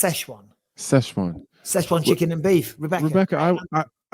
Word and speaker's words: Sichuan: It's in the Sichuan province in the southwest of China, by the way. I believe that's pronounced Szechuan.